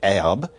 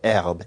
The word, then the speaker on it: herbe: So French spells herbe, H-E-R-B-E, but the H hasn't been pronounced for a very long time.